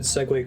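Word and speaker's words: segue: friend in high school who uh always said segway correctly but read the word sig and got really embarrassed i'm like there's no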